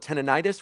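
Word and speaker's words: tinnitus: Tenonitis. When you have like that ringing in your ear, tenitis. Yeah, tenidis is the technical pronunciation.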